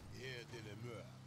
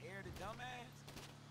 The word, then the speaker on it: Air de la Mer: I'm gonna call it Air de la Mer. You gotta say it like that, like you French. Air de la Mer. Oh, yeah. Not Air the Dumbass.